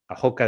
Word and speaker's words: Roca: Um, Cabo Doka. Ahoka is spelled ROCA. So it's um it's the western most point of continental Europe.